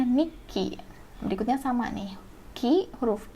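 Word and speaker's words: にっき: Ini kalian baca menjadi nikki. Kenapa? Karena huruf ya setelah tsu kecil ini yang jadi double. Ya, huruf kecil setelah ki ini yang double. Jadi makanya di sini sebutnya nikki.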